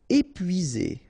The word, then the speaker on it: épuisé: Épuisé. Okay, remember, you've got two accent aigu, épuisé.